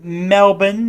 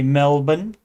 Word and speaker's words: Melbourne: Hey everyone, I'm 20-year-old college student from Melbourne is how they say it. Melbu N. Even though it's spelled M L B O U R N E, they say Melbourne, Australia.